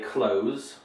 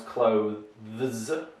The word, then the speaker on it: clothes: very difficult word uh the secret to pronouncing this uh correctly in english uh is not to say close as in like close the door although some people use that as a pronunciation in vernacular forms of english what you want to do is make a smooth transition between the and z so that's what you need to do to pronounce clothes right so we're interested